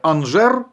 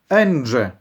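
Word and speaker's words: Angers: челендж у французькому нже багато хто це місто французьке називає анжер але правильно вимовляти енже в кінці буква р не вимовляється як правило але не буде помилка якщо ви скажете анжер також буде правильно скажу одразу на цьому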